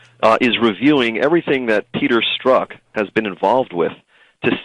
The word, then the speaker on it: Strzok: Strox and a fox in a box? How do you say his name? The DOJ officials I spoke with about this individual are pronouncing his name as Peter Strzok.